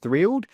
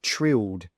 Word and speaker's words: thrilled: Now just be careful, because there's a TH at the start, so make sure you pronounce that correctly instead of saying trilled, trilled with just a T sound.